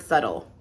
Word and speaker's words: subtle: think about the word subtle because even the word is subtle even the word is like not spelled at all like it's pronounced right um if i